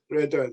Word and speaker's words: Verdun: Verdun, yeah, okay.